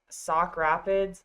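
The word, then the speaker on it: Sauk Rapids: And then boys basketball, they had their winter breakdown tournament that was somewhere in the cities and they played sock Rapids.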